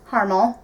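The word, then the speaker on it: Harmel: is kristen carmel and i think i'm pronouncing it right carmel it's m e h-a-r-m-e-l but i have recently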